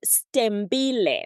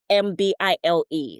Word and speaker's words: Stembile: So it's pronounced Stembile, which means there are many silent letters in there. So it's Stembile, Stembile, Okay.